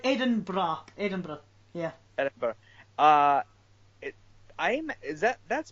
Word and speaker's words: Edinburgh: I was looking at pictures of, how do you pronounce it? Edinburgh? Edi- Edinburgh? Edinburgh. Yeah, Ed- it's like Edinburgh.